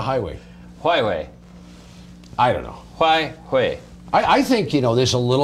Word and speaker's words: Huawei: I think it's pronounced Huawei. Huawei? Yeah. It's like, not if it's not my way, it's the Huawei?